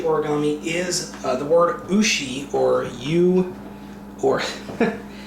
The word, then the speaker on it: Ushi: Now, Ushi Origami is the word Ushi, or you, or it's hard for me to say because I'm obviously not Japanese, but it's U-S-H-I, or I think that's pronounced Ushi Origami.